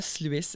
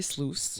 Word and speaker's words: Sluice: Ce n'est pas Sluice, c'est Sluice. Rhymes with juice.